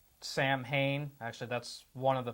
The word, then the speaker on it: Samhain: festival it's actually a celebration that was called Samhain actually that's one of the pronunciations the most common at least in the spiritual sense it's actually pronounced saawan and what this was it was a it